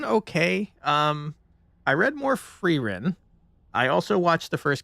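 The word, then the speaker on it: Frieren: Um, but I did figure out how to pronounce her name. It is Ferin, and that's a great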